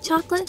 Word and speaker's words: chocolate: But sometimes that A-T-E ending is pronounced like it, as in certificate or delicate. The A-T-E in this word is definitely pronounced it. Did you always want to make chocolate, chocolate, chocolate?